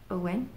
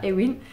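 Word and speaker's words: Eoin: grandi avec son grand-père, Owen, ça s'écrit E-O-I-N, mais ça se dit pas Eowyn.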